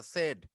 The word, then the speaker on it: said: Sad না কথাটা, said. Said. Dad said no.